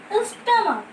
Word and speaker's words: stomach: For example, stomach. Okay, part of our body is stomach. Again CH in the last you are getting, but you are getting pronunciation of K.